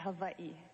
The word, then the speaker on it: Hawaii: I call it Hawaii. Well, if you want to be very technical, you would say Hawaii, because the Hawaiians pronounce their W's as V's.